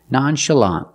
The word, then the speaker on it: nonchalant: closed uh uh Nancy nonchalant the last syllable is the open ah sound like in hot and stop together nonchalant stress the first and third syllable that's the first and the last syllable nonchalant nonchalant is an adjective